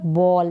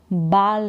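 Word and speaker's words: ball: माय मेरी यह है बॉल यानी गेंद तो मेरी बॉल के साथ मुझे खेलना पसंद है लाइक है तो इसको हम बाल नहीं पढ़ेंगे बॉल पढ़ेंगे आई लाइक टू प्ले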